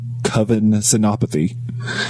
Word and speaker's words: Kavin Senapathy: Welcome to the show, Kavin Senapathy. Thanks for having me, you guys, and you pronounced my name perfectly, which rarely happens.